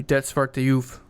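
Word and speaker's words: Det Svarte Juvet: Can you pronounce this title? I'm pretty sure you're referring to Det Svarte Juve.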